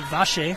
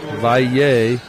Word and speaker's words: Valle: In my mission in Argentina, you would have pronounced it Vache. Yeah. With the double L's. In Mexico, the Nye and the double L, you get the Valle, Vache, however you want to say it.